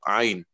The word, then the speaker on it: عين: حرف العين لا ينطق أين وإنما ينطق عين.